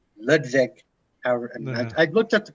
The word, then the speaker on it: Ludwig: Well, it's not actually it's supposed to be like Ludwig, but it's the Dutch Ludwig.